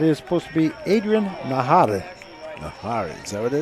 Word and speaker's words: Najar: And I think it's Adrian Nahara. Adrian Nahara. Nahara, I believe. The J's are always pronounced. That's right. So, Nahara.